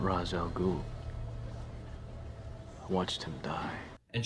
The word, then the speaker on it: Ra's al Ghul: Am I pronouncing this right? Mr. Raz Al Ghul? No, lady, you're not pronouncing that right. It's Ra's al Ghul.